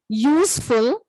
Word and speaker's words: useful: Those words are, the word may begin with a vowel letter U, but it may have a consonant sound of YU. Those words are unicorn, useful, utensils, all these other words.